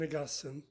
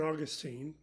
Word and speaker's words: Augustine: in the 4th century a bishop named sun agustin sometimes pronounced saint augustine if you live in florida answered a question that